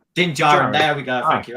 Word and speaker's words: Din Djarin: I can never pronounce his name. Din Mandalorian. Din Djarin. Din Djarin.